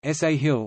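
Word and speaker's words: ساحل: the name is derived from the Arabic word Sahil Sal Arabic pronunciation sa hill meaning coast or sure in a figurative sense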